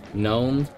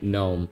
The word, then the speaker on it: GNOME: not happen I tested it with with uh gnome and I'm pronouncing it gnome to piss off the actually it's gnome people uh it just works without any issue on gnome out of the box